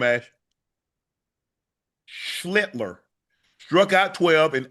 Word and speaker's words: Schlittler: Schlittler.